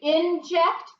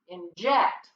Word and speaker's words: inject: say inject or inject inject this is one of the words where the UMP is on the end so he gets the accent mark on the end or the final syllable in this word okay so that's the